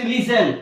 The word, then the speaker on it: listen: o g y next listen l i s t e n here listen the letter T is silent kazil c a s